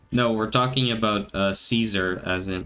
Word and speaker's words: Caesar: autistic Twitter user no we're talking about uh Caesar as in like c a e s a r I'm just saying Kaiser because that's the way you're supposed to pronounce it it's it's just the way that